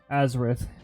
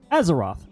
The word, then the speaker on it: Azeroth: I know I butchered the name. Well, I tried just by saying Azereth, but I believe I added an I in there when I pronounced it. Azeroth. There we go. I did add an I into it for some reason.